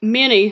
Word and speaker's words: Minnie: Okay. Yeah, that's good. Can you spell it out? Yeah. Minnie, like Minnie Mouse.